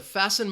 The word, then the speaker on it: fasten: can see that so we have the H in mechanik the T in fasten and the W in